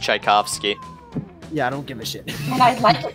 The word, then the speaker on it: Tchaikovsky: what they knew I'm it's pronounced Tchaikovsky yeah I don't give a